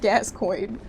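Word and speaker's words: Gascoigne: Friends, you said it's pronounced Gascoin.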